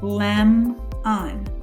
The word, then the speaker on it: lemon: In our next word, we also have a VCV pattern, but this time instead of dividing before the consonant, we're going to divide after the consonant. In our first syllable this time, we have what we call a closed syllable. In a closed syllable, the vowel would be short. So this would be lemon, lemon.